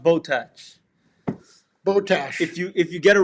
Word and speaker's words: Botach: It's pronounced Botach. Botach. If you get it wrong, we charge you more on your order." So I pronounce it Botash. Botach. Botach. You pronounce it Botach. Botach. Botach. Yeah, like attach.